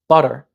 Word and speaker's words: butter: or an alvear tap take the word butter some English accents might replace the T and pronounce it as ba in my North American accent I pronounce it with butter with that tap instead of a strong top but if a foreigner